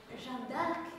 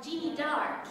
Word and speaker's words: Jeanne d'Arc: So Jeanne d'Arc has become Jeannie d'Arc here in the land of Scotland.